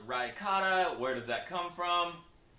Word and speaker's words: Rykata: It is pronounced Rykata.